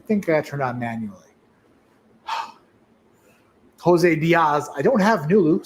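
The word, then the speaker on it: José: so that's how is pronouncing the j like an h just like you just pronounce jose's j with an h i wasn't paying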